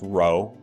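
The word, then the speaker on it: rho: greek letter it said row it looks like a scripted p but it's pronounced row and sometimes that's used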